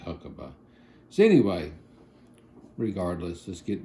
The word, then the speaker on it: Huckeba: don't say huckaba I say huckabe but it's spelled h u c k eba. So to me that's huckabe even though it's looks like huckaba.